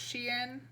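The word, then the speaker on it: Xi'an: then the next day this is actually pronounced she in we had a weird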